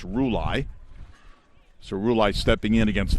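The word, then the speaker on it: Rulli: up uh the catcher josh uh roulei r-u-l-l-i that is definitely a pronunciation i had to check on it could go a few waves but evidently it's rouley so roulette's stepping in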